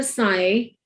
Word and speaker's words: psi: P इसमें silent है तो पढ़ते हैं इसको साई है.